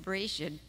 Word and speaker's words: Bereshit: And Genesis comes from a Hebrew word pronounced Bereshit, which means in the beginning.